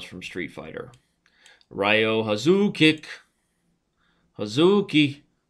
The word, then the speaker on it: Hazuki: who do we got here we got Rio huki Rio huki named after every character that you mispronounce from Street Fighter Rio hazuki huki right Street Fighter remember when Street Fighter